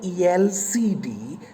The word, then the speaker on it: LCD: is a consonant but how do you pronounce it when you say elcd the first sound that you hear is yay yay is a vowel isn't it it is